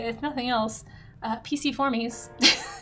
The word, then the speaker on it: Piciformes: I learned how to say, if nothing else, Piciformes is how you say it.